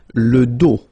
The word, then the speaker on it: dos: Le pied, le dos, final S not pronounced, okay, le dos.